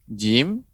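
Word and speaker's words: جيم: Dan tidak boleh pengucapannya ditekan. Ja, nah, demikian. Itu keliru, ya. Ditekan kuat. Ja, tidak, ya. Tapi dia menempel, ya, tengah lidah, menempel langit-langit, ya.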